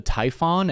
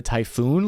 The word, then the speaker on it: Typhon: the same thing Cappy are you sure it's actually called the Typhon and not the typhoon launcher fair question I've been